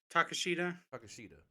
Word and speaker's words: Takeshita: He had the match with Takahashi, or is that how you pronounce his name? Takeshita.